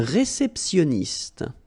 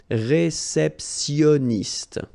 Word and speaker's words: réceptionniste: let's see them, un réceptionniste, okay, remember when you get this T-I-O-N, so normally it will give you this S, I mean, I'm talking about the T here, okay, so sioniste, okay, réceptionniste, all right, then un